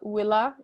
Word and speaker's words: villa: Via ab Villa Julii, and that should have a long A on the Villa there, sorry.